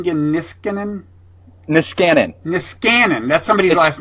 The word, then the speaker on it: Niskanen: And enjoy life at the give me the pronunciation again, Niskanen? Niskanen.